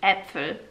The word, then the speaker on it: Äpfel: Curve your tongue and touch it to the bottom row of your teeth. Äpfel. Yeah, you kind of squish your tongue forward.